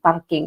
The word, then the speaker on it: parking: all right next one parking is just the same parking parking parking so the the r sound is more rolled okay parking it's more